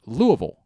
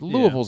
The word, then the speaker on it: Louisville: Now there are some like everybody says Louisville, correct? And for most of my life I said Louisville, right? Yeah. It's very much not Louisville. Is Louisville? No, it's Louisville. Louisville. That's how they say it there.